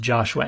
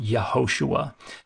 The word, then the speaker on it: Yehoshua: But Joshua wasn't pronounced Joshua anciently. It was pronounced Yehoshua.